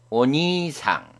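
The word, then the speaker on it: お兄さん: 이다는 글자 다음에 이가 오면 이다는 글자를 길게 발음합니다. 예를 들면 오니상, 오지상, 찌사이와 같습니다.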